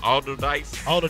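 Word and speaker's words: Allderdice: Wiz Khalifa, Taylor Alderdice. That's how you pronounce it.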